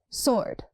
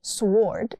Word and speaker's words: sword: Sword. Drop the W, not sword. It's sword.